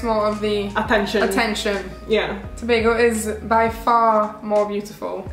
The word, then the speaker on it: Tobago: Tobago, Trinidad and Tobago. Emphasis on Tobago.